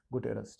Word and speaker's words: गुटेरस: ठीक है, इसको देखिए, गुटेरस अलग अलग इसका प्रोनाउंसिएशन है, तो सही मामले में गुटेरस जो लिखा है वैसे ही आप पढ़ लीजिए, एंटोनियो गुटेरस।